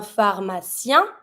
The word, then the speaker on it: pharmacien: Un pharmacien, PH, F sound, pharmacien.